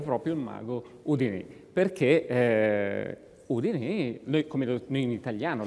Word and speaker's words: Houdini: Perché Houdini, noi in italiano lo chiamiamo Houdini, adesso lui sta facendo delle facce buffe perché si dice Houdini, si direbbe Houdini, non Houdini. We Italians call it Houdini, with the accent on the I.